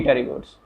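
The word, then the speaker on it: Pterygota: एक होती है ए टेरिगोट्स and second one इज पी टेरिगोट्स, मतलब उसमें पी साइलेंट होता है, उसको हम बोलते हैं टेरिगोट्स, ए टेरिगोट्स एंड टेरिगोट्स।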